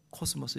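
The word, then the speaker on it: κόσμος: 코스모스의 헬라어로 코스모스, 영어로는 카스모스.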